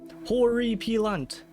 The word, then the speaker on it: Horripilant: Horriy peelant.